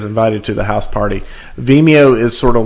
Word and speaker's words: Vimeo: How do you pronounce this company's name? I'm so not a cool kid. Is it Vimeo? Vimeo.